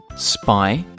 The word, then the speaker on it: Spinosaurus: Spinosaurus. Can you say it with me? Spinosaurus.